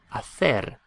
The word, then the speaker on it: hacer: So, to do is pronounced hacer, hacer, because it has an E after it.